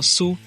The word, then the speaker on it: Sioux: Cherokee, Sioux, que se pronuncia algo como Su, Navajo, Apache, Cheyenne, Commanche, Iroqua, muitas vezes dito como Iroqua, e Seminole.